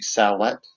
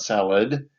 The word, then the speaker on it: sallet: We call it poke salad in the south. It's actually sallet, not salad. It's spelled with a t.